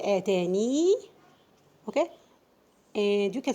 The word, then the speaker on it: آتاني: We have a special case actually for the word آتاني.